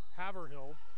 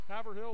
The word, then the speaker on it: Haverhill: by joe marshall they are out of massachusetts haverhill i believe that's how you pronounce there's molly moffett for three no haverhill or haverhill i can never remember but it's massachusetts either